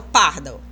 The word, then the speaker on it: pardal: E aqui, ó, pardal. Eu nunca falo pardal, eu falo pardal. Dal, olha lá, sílaba forte, né? Não tem acento, mas ela é a tônica.